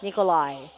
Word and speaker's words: Nickolye: That's spelled Nickolye. Nikolai.